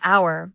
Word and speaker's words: hour: For example, we say an hour because the H is silent, making the word start with a vowel sound.